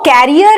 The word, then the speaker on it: career: और कुछ लोग इसको बोलते हैं करियर। एक्चुअल प्रोनाउंसिएशन इसकी क्या है, करियर, करियर, करियर। दूसरा आर बहुत ज्यादा सुनाई नहीं देता है और ऑलमोस्ट ना के बराबर होता है, और इसकी